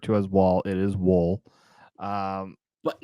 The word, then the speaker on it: Woll: Like like Dole bananas, Yep. like the fruit company. It's like that, but with a W, right?